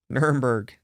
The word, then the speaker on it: Nuremberg: Nuremberg.